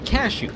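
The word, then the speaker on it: Kashou: uh s h o u o u yeah cashew it's freaking cashew the character the character who's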